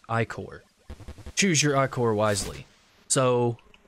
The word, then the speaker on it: ichor: Unfortunately, the magical ichor, that's pronounced ichor.